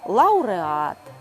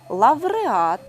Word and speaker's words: лавреат: як аудиторія пауза фауна лауреат тепер їх бажано вимовляти зі звуком в авдиторія павза Фавна лавреат не просто буде звикнути